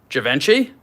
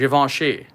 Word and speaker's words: Givenchy: don't know be like the crass American way to pronounce this is Givenchy Givenchy is Yvonne she but I mean you